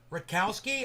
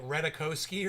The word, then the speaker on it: Rutkowski: Rutkowski, I see a T and a K. The only way to do that is to end the T and start the K, man, Rutkowski, unless the K is silent.